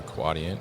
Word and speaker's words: Quadient: just rebranded from neopost and now they are quadient and we were discussing how to pronounce it correctly so it's quadient right yes